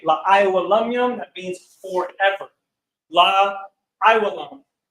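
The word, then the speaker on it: עילם: Next, you have Elam, and it's pronounced in the ancient Hebrew, Ayalam.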